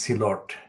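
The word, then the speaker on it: Sylhet: here's a celerti word silhat silot the original pronunciation is silot so it's a silati word kudilar and it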